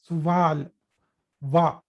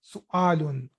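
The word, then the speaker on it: سؤال: So it is not pronounced as suval wa. No, it is not. This is not wow. This is Hamza. So it should be read as su'alun.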